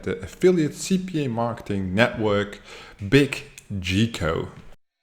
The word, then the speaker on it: Biggico: affiliate CPA marketing Network big G Co that's how I would pronounce it g IC o---- this network has more